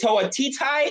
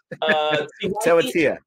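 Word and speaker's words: Tewatia: Is it Tawatitai, or I always say it wrong? Tawatia.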